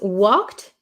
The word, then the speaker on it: walked: So, this one in this word, the L is silent. We do not say the L. Okay. And the last e d um usually after a c-k sound after a k sound. The e d sounds like a t t t t